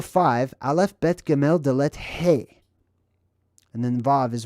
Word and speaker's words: he: love beth kimel dalet hey this is number five one two three four five now in phoenician this is the letter hey that's how it's pronounced like hey how's it going it's the same exact